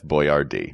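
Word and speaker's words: Boyardee: became famous as Chef Boyard D cuz we don't pronounce names properly exactly they had to phonetically spell his name on the cans of pasta let's talk about Nicholas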